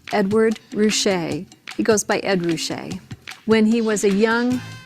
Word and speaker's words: Ruscha: considered very cool the artist's name is pronounced Edward Rouse he goes by Ed Rouse when he was a young what you might